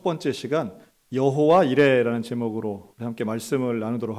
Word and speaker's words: 여호와: 여호와입니다 우리가 발음하는이 야외 여호와라고 하는 이름은 사실은 구약성경 히브리어로는 자음 받기는 없습니다 여기에 우리가 사람들이 일반적으로 이야기한 여호와의 이름을 아도나이라고 히브리어로 표시하는데요이 아도나이의 모험을 붙여서 여호와라고 우리가 해석한 것입니다 실제로는이 구약의 사람들은 하나님의